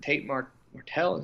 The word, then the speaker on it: Tate Martell: I didn't see the game, but the transfer quarterback, was it Tate Martell? Am I pronouncing that correctly?